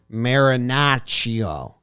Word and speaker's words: Marinaccio: Marinaccio. Marinaccio. Joe's rolls the R's. It sounds pretty cool.